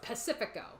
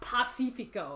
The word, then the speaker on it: Pacifico: for the longest time we were just saying oh it's Pacifica and then Boon corrects us one day it's technically pronounced Pacifico it's like okay I